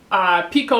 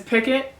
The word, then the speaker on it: picot: Piko pipe okay so there's an American pronunciation and British pronunciation American is picot and British is picot I always thought it was picot like when I was tatting lace so I'm just gonna go with picot you do it you